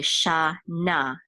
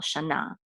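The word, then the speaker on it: שָׁנָה: This will say shana, and the accent is on the last syllable, shana.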